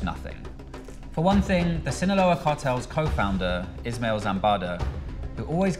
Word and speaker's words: Sinaloa: or killing uh am I saying it wrong Sinaloa scene aloha you said cinnahola no I didn't I don't even know how